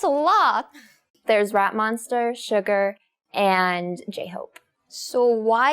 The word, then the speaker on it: Suga: So, why is his name Suga, not Sugar or someone? Suga. I I first when I saw the Korean name Suga, I thought this sugar, but it's not sugar.